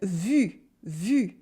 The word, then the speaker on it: vu: When you pronounce U, it's the same, except your tongue is much more in the front.